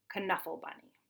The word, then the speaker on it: Knuffle Bunny: this story it is pronounced k and it's pronounced come kunafa bunny so I hope that you enjoy Trixie as